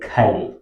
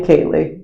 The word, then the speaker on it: Kaye: mhm in Hawai so here you call it Kye yeah he call me Kaye but yeah M but the actual pronunciation is supposed to be K MH wow that's amazing